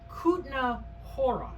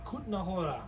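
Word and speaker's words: Kutná Hora: pronounced Kutna Hora. Kutna Hora.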